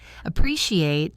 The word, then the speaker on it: appreciate: Appreciate has the stress on the second syllable.